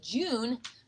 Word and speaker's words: June: The silent E at the end of June makes the U say its own name.